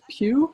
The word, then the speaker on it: Pugh: It's pronounced like it's pronounced Pugh, like something you sit on.